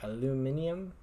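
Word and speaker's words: aluminium: mercury cadmium arsenic and aluminum in it or aluminum over the english pronounce it and we do not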